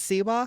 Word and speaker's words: Siwa: Sawa I don't know how to say it sewa it's sewa it's sewa okay JoJo sewa okay sewa